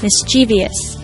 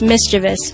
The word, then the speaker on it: mischievous: speakers pronounce it as mischievous in fact it's actually pronounced mischievous with no extra syllable or vowel P show over half